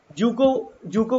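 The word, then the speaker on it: Dzukou: में आग लग गई तो डी जूको वैली लोग पढ़ते हैं, डी साइलेंट रहता है तो इसे कहते हैं जूको वैली।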